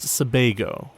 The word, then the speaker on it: Sebago: It's pronounced Sebago, as in Bay of Pigs, not beehive.